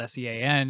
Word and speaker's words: Sean: And so then I had to explain to her how Sean is, very commonly spelled S-E-A-N and pronounced blah, blah, blah, because God knows if she's ever actually read the word /name Sean before.